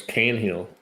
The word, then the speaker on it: Tanhill: Tanny Hill Bradley tanhill oh it's tanhill yeah you could take that an out of there and it would still be tanhill so dang dang what